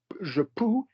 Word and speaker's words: je peux: So basically, je peux, change the vowel. So not je veux, but it's going to rhyme with it.